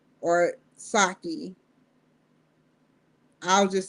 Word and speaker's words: Psaki: But I read what she said to Jen Psaki or Psaki. I'll just say Psaki, the P is silent.